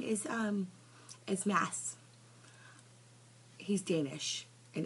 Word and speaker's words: Mads: Danish and it's spelled m a DS and instead of telling everybody how to spell it how to pronounce it he just lets everybody call him mads even though it's pronounced Mass so I gave him